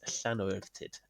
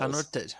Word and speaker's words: Llanwrtyd: Victorian pub situated in Llanortyd. I think that's how you say it. It's Llanortyd, Wales. Llanwrtyd, yeah.